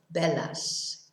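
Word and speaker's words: velas: might have lots of bellas candles so remember that the v is a sort of half b sound it's very important not to pronounce it as a b i know a lot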